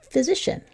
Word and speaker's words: physician: I'm thinking physician. There's a medicine word right there. So that's a F sound at the beginning of physician, which is a doctor.